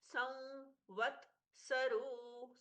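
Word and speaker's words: संवत्सरो: अहस ह पूर्ण संवत सरो व्या संवत सरो संवत सरो व के पहले अनुस्वार है। उसका भी व जैसा हल्का सा नाक से उच्चारण इसलिए यह होता है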